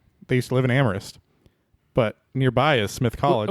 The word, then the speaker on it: Amherst: used to live in amorist but nearby is Smith college when you're saying that are you saying Amherst it's spell it's it's amorist it's amorist it's spelled Amherst SS say amist man people in the